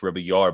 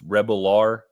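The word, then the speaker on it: Rebollar: Adrian Rebel, I would keep wanting to say it's Spanish, Rebellar, but it's Rebelar is how they pronounced it in the broadcast.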